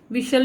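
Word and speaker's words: whistle: विशल में टी की आवाज़, टी साइलेंट है, टी की आवाज़ नहीं आ रही, टी साउंड हमें सुनाई नहीं दे रहा।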